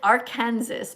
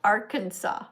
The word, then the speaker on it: Arkansas: And beneath you is, it says Arkansas, but we know it's pronounced Arkansas, right?